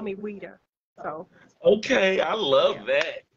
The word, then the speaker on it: Oeida: And then I never told you how to pronounce my name. It's Oeida. Oeida. Yes, it starts with an O, but it's Oeida. It's French.